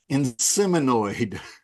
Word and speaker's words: Inseminoid: to do uh the movie in sinoid is that how you say it that's it that's it uh it's